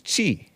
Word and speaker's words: Qi: each other his his last name is chi Qi is that how you pronounce q-i-chi grad student charged with